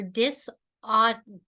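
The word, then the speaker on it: dysautonomia: I can pronounce this aroma therapy support for dis autonomia am I pronouncing it correctly I had trouble with this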